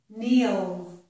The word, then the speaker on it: kneel: However, if the letter K is followed by the letter N, then it does not make the k sound. Instead, it makes the N sound, like the letter N. K plus N makes the N sound. It does not make a K sound. Here are some examples. This is knick-knack, kneel, knit. So in each of these words, with the KN, we do not hear K.